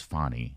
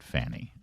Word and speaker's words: Fani: why she keeps saying my name is fonnie not Fanny okay I don't think